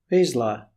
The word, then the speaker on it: Vizsla: Wisla. pronunciation. Vizsla.